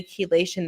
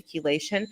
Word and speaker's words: chelation: Um, and when I say keelation, there's levels to keelation. Um, and chelation is spelled ch h e l a te d. So sometimes you may see it um and mispronounce it.